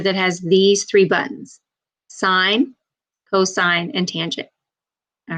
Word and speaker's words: sin: the first three letters so it looks like sin costs tan but that's not how you ever pronounce them so when we read this we will say sine cosine tangent now the sine there's